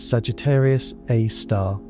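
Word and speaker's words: Sagittarius A*: It has a name, Sagittarius A Star, pronounced Sagittarius Aar.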